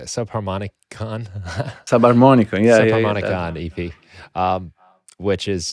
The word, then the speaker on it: Subharmonicon: Subharmonicon, yeah.